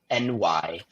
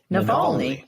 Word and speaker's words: Navalny: I should have picked one I could pronounce, but here I am on a podcast. No, it's Navalny, and it is on HBO Max, I believe.